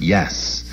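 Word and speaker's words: Jass: s on the label according to the dictionary jazz pronounced yes is a type of card game played in switzerland which is similar to pinocchio so they got that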